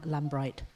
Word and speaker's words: Lambright: And I would very much like to introduce you to Dan Lambright.